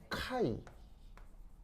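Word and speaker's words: χ: 그래서 이제 발음은 그 카이 카이 그래서 이제 그리스와 알파벳인데 이제 왜 영어 알파벳에 요렇게 쓰는 건 x잖아요. X고 그 그리스 알파벳에 요렇게 쓰는 녀석이 있는데 얘는 발음이 카이입니다.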